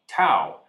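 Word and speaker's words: tau: Tangles are twisted fibers of another protein called Tao rhymes with wow that build up inside cells.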